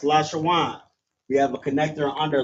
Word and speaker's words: Lashawan: For example, there's we have lash shawan right here. So we have la wa I'm sorry la sha w and n. That's lash shawan.